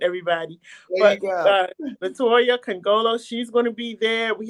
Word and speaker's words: Nkongolo: let me let me try your name again congolo you got it that was perfect okay okay the end is silent everybody latoya congolo she's gonna be there we have uh chris